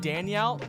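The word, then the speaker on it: Daigneault: Mark Daniel. I think that's how you pronounce his name?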